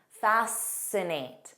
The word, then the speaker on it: fascinate: Scissors, muscle, muscle, fascinate. So you just hear that the S sound. The rule here is SC spelling has a silent C, but in pronunciation.